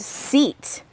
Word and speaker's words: seat: here is the word seat when two vowels go walking the first one the e does the talking with the long vowel sound eat the second vowel is silent I get it next